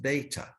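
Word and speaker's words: θ: Theta, it's pronounced theta, theta.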